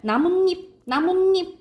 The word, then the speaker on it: 나뭇잎: 그리고 나무 플러스 잎인데 이거는 결과적으로 발음이 어떻게 나냐면 빨리 하면 나뭇잎 이렇게 나요. 나뭇잎. 그래서 이거는 니은이 덧나요. 니은이 더 생긴다 이 말이야.